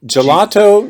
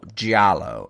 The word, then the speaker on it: giallo: Gelato? No. It's spelled Giallo, Giallo, and it's the Italian word for yellow.